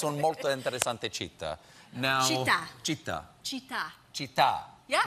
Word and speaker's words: città: Now, città.